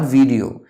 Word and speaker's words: video: is video of course it's not video it's video just like it's not audio it's audio video it's audio video that's the correct pronunciation it's a thanks a